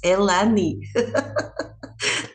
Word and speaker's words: Elaine: So it's nice to meet you, Elaine. Perfect speech. Just one thing, your name here in Brazil is Elani. Pronunciation is pretty different.